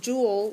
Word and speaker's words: Joule: The abbreviation for it is a capital J, and it's pronounced jewel like a jewel.